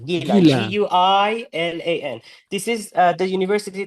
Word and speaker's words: Guilan: that you mentioned that you went to, of Guilan, is it pronounced? Yeah, Gilan, Guilan.